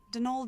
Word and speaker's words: Donal: That was the caretaker, Donald Delaney. Not Donald, mind you. There's no D at the end, so it's pronounced Donal.